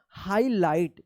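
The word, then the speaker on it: highlight: और लास्ट वाला जी एच क्या होगा? साइलेंट रहेगा। तो क्या पढ़ेंगे इसको? हाईलाइट। क्या पढ़ेंगे इसको?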